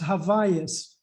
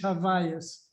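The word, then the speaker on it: העוויות: Azuch mit That's sorry, Nechama, that word, it's pronounced Havayas. That's right. That's right. Because it's Hebrew. It's Hebrew, but it's Havayas. pronounced in Yiddish Havayas. Yeah, that's Havayas.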